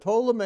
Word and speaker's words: Ptolemy: And Egypt is ruled by Ptolemy. Now, I always like to remind people that Ptolemy is spelled with a P, but the P is silent.